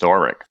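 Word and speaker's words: Oerik: Apparently, it has two pronunciations. Oric is one. Ori is another because it can have sort of a a byroxy cultural pronunciation based on Gyax's original thinking about how to do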